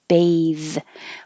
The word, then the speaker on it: bath: irritable irritable bathe when it has the e at the end then the th is voiced and the vowel is the long vowel sound a bathe when there's not an e at the end then the vowel is ah and the th is voiceless bath so this is a